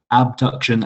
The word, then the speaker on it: abduction: your flexion and extension abduction and adduction remember when you're um presenting that to really pronounce the b and the d and make sure the